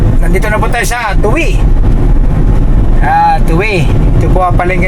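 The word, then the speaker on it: Tuy: Yes mga kabukot, nandito na po tayo sa Tuwi. Tuwi. Ito po ang palengke na Tuwi. Yes. Tuwi. Tuwi, Batangas. Tuwi no, pero ang pagbasa Tuwi. Tuwi. Pero Tuwi. Tuwi. Pronunciation Tuwi.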